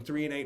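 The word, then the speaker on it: threonate: o n a t e 3 and8 it's pronounced magnesium 3 and8 helps with cognition brain fog memory cognition thinking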